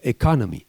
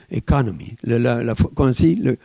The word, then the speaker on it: economy: Economy. Vous êtes d'accord, hein, monsieur le professeur? Economy. Comment on appelle ça? L'accent tonique. L'accent tonique, voilà, il faut bien le mettre.